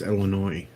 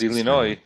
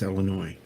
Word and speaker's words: Illinois: the state wrong it's illinois i said illinois i pronounce it correctly no it's the s is silent it's illinois if the ass is